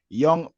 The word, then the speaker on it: Jong: Is Young PSV? Yeah, young PSV, yeah. Yeah, I just guess it because Dutch and Frankie de Jong and all them young.